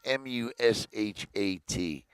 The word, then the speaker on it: Mushat: can tell you that it's Jada Mushat, I believe is how you say her last name. It's Mushat.